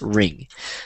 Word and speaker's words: wring: It's ring. So I'm wringing out the towel. It's spelled W-R-I-N-G.